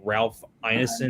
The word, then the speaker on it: Ralph Ineson: I think Ralph Ineson, I think that's how you say his name,